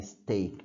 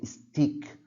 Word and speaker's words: steak: steak as well also take care to pronounce the word correctly yes steak I've already seen people saying stick like stick the friend oh no it's not stick the word is steak all right we also